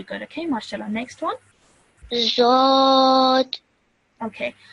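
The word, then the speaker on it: ض: Zod. Okay. Bit more thicker. Dod. Zod. Much better.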